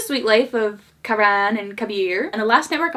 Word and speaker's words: Kabir: And then they also have The Sweet Life of Karan, and probably Karan and Kabar. कबीर, तुम मेरा science project कर दोगी? Kabir, that's how she pronounced it.